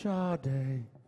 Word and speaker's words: Sade: But it's pronounced Sade.